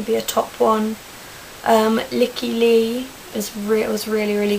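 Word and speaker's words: Lykke Li: she's really good and it's spelled l y k k e and then l i licky lee um so yes uh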